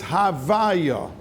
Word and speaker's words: Havaya: Now, the tzira for the month of Av is Kei Vav Yud Kei, and that Shem, if you pronounce it, it's Havaya.